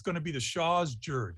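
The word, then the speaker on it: jird: gonna be the shaw's jared it's spelled j-i-r-d but i don't think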